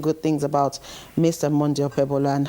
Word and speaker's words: Okpebholo: There's even a way they pronounce it, Okpebholo. Yeah, I think the B is somehow, it's silent.